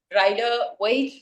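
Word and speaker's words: Rider-Waite: This is the rider weight deck. Okay, rider weight भी बोलते हैं, rider weight भी बोलते हैं, ठीक है, अलग अलग प्रोनाउंसिएशन है.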